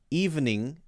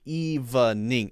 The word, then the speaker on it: evening: that another another syllable eve ning actually when people say evening they usually make that just evening evening and so evening actually usually is a two-syllable word if you say evening